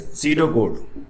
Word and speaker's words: pseudocode: Now third point is pseudocode. Here P is silent, S-E-U-D-O-C-O-D-E, pseudocode.